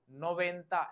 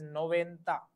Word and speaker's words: noventa: 90 is, the pronunciation of 90 is noventa and the spelling is NOVENTA. The pronunciation is noventa.